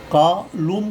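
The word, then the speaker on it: column: जब भी किसी अक्षर के लास्ट में एन आता है और उससे पहले एम आ जाए तो एन का एन साइलेंट रहता है।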